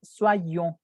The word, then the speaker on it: soyons: Rappelez-vous que l'Y équivalent à 2i. 2i. C'est la raison pour laquelle la prononciación c'est soyons. Soit, porque con una i hace el o y hacen wa, soit, y luego tengo que decir la otra i, soyons, soyons.